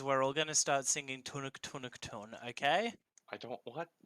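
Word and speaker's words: Tunak Tunak: I'm gonna get the lyrics, and we're just gonna do the Tunuk Tunuk. And Tunuk tunuk. all right, so you sort of want to make it sound like tun tun, like it's one syllable.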